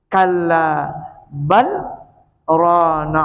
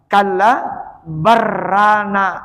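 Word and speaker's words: كلا بل ران: Nah, cara membacanya dia harus memandak tapi jangan bernapas. Ini bacaan Rasulullah, saktah artinya. Di dalam Al-Qur'an itu ada 4 surah nang zahir saktah. Termasuk ini. Kalla bal rana ala qulubihim. Nah, itu cara membacanya. Ini urusan bacaan lah. Jangan dibaca kalla barrana ala qulubihim.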